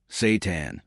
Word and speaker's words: seitan: Despite the unusual name, seitan, pronounced seitan, is one of the most protein-dense foods in the plant-based world.